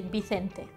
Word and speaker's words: Vicente: In the States, we say Vincent. In the UK, we say Vincent. In France, we say Vincent. In Spain, we say Vicente.